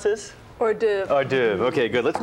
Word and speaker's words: hors d'oeuvre: You just how do you pronounce this? Hors d'oeuvre.